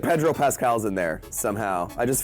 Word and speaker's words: Pascal: Like Han Zimmer, Pedro Pasqual. I'm pronouncing it wrong. Pascal.